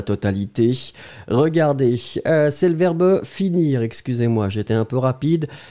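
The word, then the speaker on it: finis: Sophia X, attention, fini. Hein, F-I-N-I-S. Hein. N'oubliez pas le S. Renato Silva aussi, n'oubliez pas le S. On ne prononce pas le S, mais il est là.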